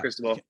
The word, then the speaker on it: Cristobal: And part of I know in Miami, like they want to get Cristobal, right? Is that how you say his name? Oregon's coach? Yeah. Yep. Mario Cristobal.